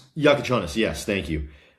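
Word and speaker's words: Jakučionis: Caspar Jakuchonis. Yakuchonis. Yakuchonis.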